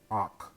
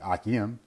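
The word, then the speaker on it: אח: Even though it should be Akim in the plural state, but Ak is a brother. And you notice that Ak, that comes from, again, a guttural, Ak, Ak. Notice the guttural at the end, Ak.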